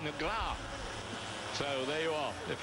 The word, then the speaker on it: Negro: And the pronunciation, really, of Alexandrino Negro, I'm told from my Brazilian friends, is more like Negra.